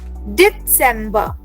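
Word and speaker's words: Dezember: spelling has इज़ डी so again you will have to pronounce the T over here रिमेंबर everyone so this word will be pronounced as डिसेंबर डिसेंबर टी हैज़ टू be there या डिसेंबर alright अ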